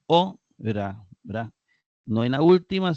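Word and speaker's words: ὥρα: Luego tenemos ora. Igualmente lleva un acento agudo en la penúltima sílaba, ora, ¿verdad?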